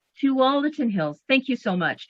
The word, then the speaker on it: Tualatin: completely botch it again tualatin hills to all the tin hills thank you so